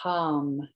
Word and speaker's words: ham: And the Vishuddha chakra, the throat chakra, the bija mantra is ham, H-A-M.